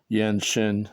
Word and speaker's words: Yan Xin: And I started at the Yanshin Qigong Club in 1997 before I met Qigong Master Chen Yilin. And Qigong Master Chen Yilin was first healed by Yan Shin. His name is pronounced Yan Shin.